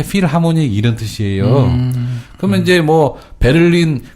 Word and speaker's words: 필하모닉: 그래서 맨날 무슨, 독일 필하모닉 심포니 오케스트라 이렇게 얘기하지 않습니까? 네네. 그래서 필하모닉은 무슨 뜻일까요? 필하모니? 예. 이게 필이 아니고요. 필입니다. 필. PH로 시작했고 F 발음 납니다.